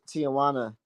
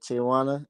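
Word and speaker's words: Tijuana: Nah, I heard Tijana. That's how you say it. Tijana.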